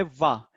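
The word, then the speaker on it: は: सो ये first particle है, लिखा है हा। लेकिन जब ये पार्टिकल होता है, एज ए पार्टिकल यूज होता है, तो प्रोनाउंस होता है वा। जैसे हमने कल देखा है कोन्निचिवा, कुंबानवा, तो लिखते हैं हाँ लेकिन बोलते हैं वा।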